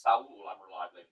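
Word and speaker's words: Saúl: It is actually pronounced Sali, but uh the play on words didn't work quite as well if I pronounced his name correctly.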